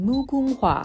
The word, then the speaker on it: Mugunghwa: then you have the— I just looked it up and realized I've been saying it wrong this whole time. It's called the Mugunghwa.